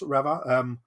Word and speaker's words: Reva: I'm sort of torn between Reva and Reva. Kat, let's go to you first. Sort of, do you pronounce it Reva? I suppose that's how the fifth brother says it. He's like Reva. I pronounce it the fifth brother way of Reva, but I've heard people say it both ways. It just depends whether you prefer your E's one way or the other.